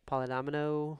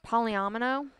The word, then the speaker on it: polyomino: Polydomino. Yeah, polyomino.